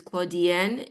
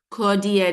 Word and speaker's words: Claudienne: And just so that you can hear it verbally, my name is Claudienne. Okay. All right. Thank you. Good night and good Do evening. you pronounce that again? Claudienne? Claudienne, it's French. Claudienne.